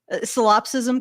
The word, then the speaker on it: solipsism: The ever expanding wave of solipsism. Can we say it? That's solipsism. I think that would be solipsism. Solipsism. Thank you, Brian. Solipsism is how you pronounce it.